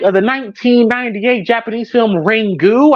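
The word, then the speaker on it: Ringu: the 1998 Japanese film rangu I believe is what's uh what it's uh how it's pronounced a ring you a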